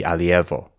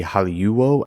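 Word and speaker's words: ἁλιεύω: The weird thing here is this EU diphthong. In modern Greek, it's pronounced ev. It would be alievo.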